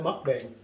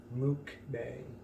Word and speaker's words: mukbang: mukbang no but uh we pronounce it mukbang also in the in the definition online it says mook bang which was whatever but